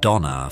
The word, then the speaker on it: Dona: captivating the industry's attention Paramount adopting the pronunciation Donna for her name which ultimately prevailed chose to Market her